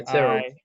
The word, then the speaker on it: Tyrrell: pronounce the first name, whether it's Tyrell or Tyrrell Hatton. Yeah, Tyrrell. Tyrrell? Okay. I thought so with the double R, but I had to double check.